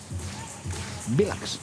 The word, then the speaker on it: Velux: Vilax. Vilax, sí. Y está. Como bien os enterasteis en Colonia, que se pronunciaba.